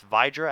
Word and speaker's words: Vydra: ball to vdra now a lot of you are saying VRA I've been told multiple times that it's vydra actually so I'm going to